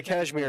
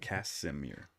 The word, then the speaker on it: Casimir: The cashmere effect. Okay, yeah, I got it here. You keep saying cashmere. That's what I'm fucking with you. Cashmere, Casimir. You're right, Casimir. I've been saying it wrong.